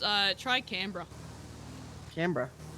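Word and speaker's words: Canberra: it's pronounced uh try Cambra Cambra it's spelled like cber but you just say camra just reminds me of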